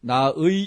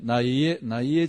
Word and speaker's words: 나의: 주로 의는 나의 이렇게 확실하게 발음하기보다는 좀 어정쩡하게 하죠. 나의 집. 그렇다고 나애도 아니에요. 나의 집. 의와 애의 한 중간 정도.